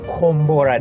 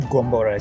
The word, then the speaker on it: Kombora: Okay, so it's Kombora, not Gombora. So when she pronounced it, sounded like Gombora.